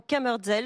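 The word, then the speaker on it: Kammerzell: Et le chef Hubert Lépine est avec nous, chef du restaurant Kammerdzell, je l'ai bien prononcé.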